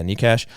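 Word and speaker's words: Nečas: player oh no sorry nekish is that the right pronunciation yeah nikash so he had 71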